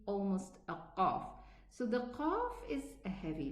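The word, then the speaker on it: قاف: Now, how do we adjust the pronunciation of the qaf? Okay, because many people really have this difficulty. They are not able to differentiate between the sound of the qaf and the kaf. Now let us pronounce it with a shadda. So how do we do this? We say and stop there, stop the sound. Qa. You will feel where the makhraj is. Here, qi, qu.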